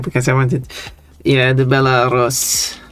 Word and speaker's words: Belarus: Or Belarus, or Belarus. God. Belarus. We pronounce it Rus. Yeah. Here. I don't know So why. Biela is white, so it can be referred to as a white Russia.